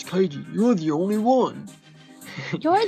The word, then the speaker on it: Keiji: I always called him Keiji It's- because no, it's- K-E-I. It's definitely Keiji, but I can't. That's just me. That Ah, I show. see. That show. I was worried I was wrong about the pronunciation for a minute. Yeah, no, it's Keiji.